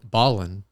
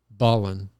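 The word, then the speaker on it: Ballin': baldwin what is it ballin come again ballin can you spell that for me like dribble dribble basketball ballin ballin basketball b-a-l-l-i-n apostrophe oh there's an apostrophe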